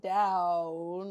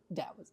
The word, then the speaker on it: Dao: should just be spelled Dow yeah I've seen both spellings but I've only ever heard the one pronunciation I think the trick is that it's harder than D but softer than T okay fair that in